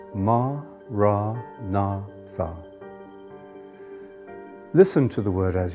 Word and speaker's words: Maranatha: choose that word say it has four syllables ma rah na thum listen to the word